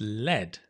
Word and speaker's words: led: The past is led. I led you, right? So notice the pronunciation change. I lead you, but my boss led us to victory in the past.